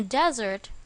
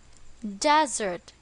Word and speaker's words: desert: can live in a desert as long as I'm with you where is the stress in this word correct on the first syllable desert desert here means a dry